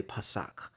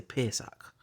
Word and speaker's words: Pesach: They call it Pesach, but we say Pasak. But it's the vowel pointing here say Pesach.